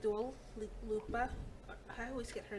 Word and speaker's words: Dua Lipa: So I like Dua Lipa. I always get her name wrong. No, you right. Dua Lipa.